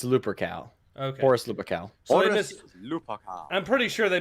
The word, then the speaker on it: Lupercal: no it's uh it's lupercal okay i'm pretty sure they mispronounce it then in gothic armada they do all right uh it's not pronounced uh looper call like nobody says that as far as a